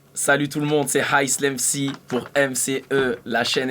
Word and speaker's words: Islam: Je m'appelle Islam, ISLAM, comme l'islam. Mais ça se prononce Islam.